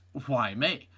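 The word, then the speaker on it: Hua Mei: 100 days after her birth, a little panda receives her Chinese name, Why May, pronounced Why May.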